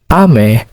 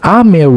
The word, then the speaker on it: 雨: Ame has two syllables. The first syllable is a and the second syllable is me.